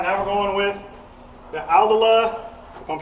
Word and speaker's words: Aldila: All right, now we're going with the Aldila, if I'm pronouncing that right, Yep.